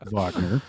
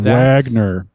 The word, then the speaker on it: Wagner: uh he's listening to Vagner and what I love tidbit from the commentary is um they just rolled with uh that actor mispronouncing uh vogner's name and just going Wagner that's the [ __